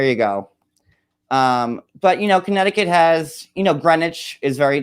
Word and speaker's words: Greenwich: But Connecticut has Greenwich is very like bougie. Wait, that's another question. Okay, why do they call Greenwich? It's Greenwich. It's a green in there.